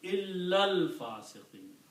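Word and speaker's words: إِلَّا الْفَاسِقِينَ: together, illa and al-fasiqeena, then you combine this lam with this lam, so illal fasiqeen. Illal. So when you do that, then this will be, alif will not be pronounced, and we put a little sad on that, which means hamzatul wasl. It is written, but do not pronounce alif anymore. So pronounce as illal fasiqeen.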